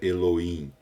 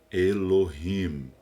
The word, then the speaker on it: Elohim: o nome elorrim um a pronúncia pronúncia não é Elohim é elorrim é o nome é